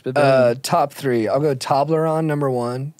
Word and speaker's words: Toblerone: I'll go Toblerone, number one. Toblerone, nice.